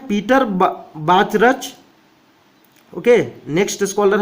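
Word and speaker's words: Bachrach: Okay, next scholar है Peter बाचरच। Okay, next scholar है Peter बाचरच, जो कि देखिए यहां पर CH साइलेंट है। पीटर बार्च, आपको पढ़ना है पीटर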